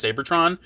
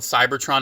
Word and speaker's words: Seibertron: I always have pronounced it Seibertron. I've heard some people just call it Seibertron. It's spelled weird, so I've always pronounced it slightly different, so people know what I'm talking about.